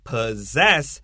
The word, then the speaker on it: possess: So don't forget the word possess has a z pronunciation. And this is weird because almost all SS English words has the s sound.